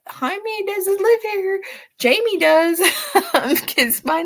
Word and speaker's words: Jaime: in me um and they want to pronounce it as Jaime because that's how it's spelled and it's funny because